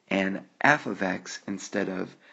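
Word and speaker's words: f(x): this symbol right here and that symbol is pronounced F ofx but f ofx is exactly the same as the variable y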